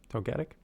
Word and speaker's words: Togetic: Togetic? Togetic. That's how you pronounce it.